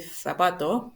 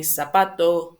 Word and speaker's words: zapato: In theory, the Z is the sounds of the theta is like this, which is only used, I would say, in Spain and some parts of Spain. For example, they will say zapato, pero they also say zacar.